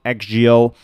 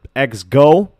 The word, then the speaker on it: XGO!: this time we're going to be talking about xgeo um or X go actually is the correct pronunciation so the first thing you want to